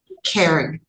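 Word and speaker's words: Caree: Um Karen. Karee. It's pronounced kare, but it's c a r e.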